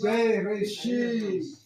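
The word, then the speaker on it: בראשית: C'est Bereshit. Il n'est Le pas comme commencement. Bereshit.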